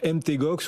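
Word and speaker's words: Mt. Gox: un petit moment donc MT gox ou manga c'est de façon de prononcer NT gox nous explique explique à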